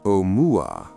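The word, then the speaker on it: ʻOumuamua: Oumuamua, pronounced Omuamua, a Hawaiian word meaning roughly a messenger from afar arriving first, was unlike anything astronomers had prepared themselves to see.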